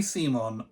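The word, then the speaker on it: CMON: that what is it is it pronounced come on or Simon they say Simon I call it come on because c-m-o-n come on obviously it's come on you're never gonna change my mind on that it always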